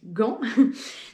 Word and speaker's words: Gand: ou en anglais et différentes prononciations pour vair rester sur le classique Gan donc voilà on a